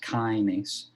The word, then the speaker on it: kinase: we hopefully appreciate that a kinase so it's pronounced kinase is something that phosphorylates other things so shc